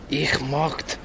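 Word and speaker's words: möchte: Ich mocht, pronounced like mukti, means I would like.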